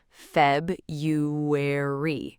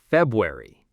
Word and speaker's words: February: Most learners try to pronounce the R, February. But native speakers, we drop that R. We say February. The R is basically silent, February.